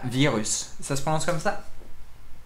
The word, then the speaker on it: Vyrrhus: aujourd'hui on s'attaque à virus ça se passe comme ça ça se prononce tout à fait comme ça le virus donc on a bien